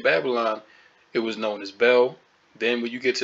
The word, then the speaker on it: Baal: Sumeria which was the ancient Babylonian Empire right pronunciation Bell the god ultimately became known as the Greek